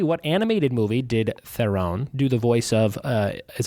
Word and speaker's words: Theron: I say Theron. Like That's Game of Thrones?